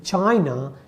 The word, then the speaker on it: Qin: to say that even if you say that chin one like in chinese it's written as q i n that is the chin dynasty but when we write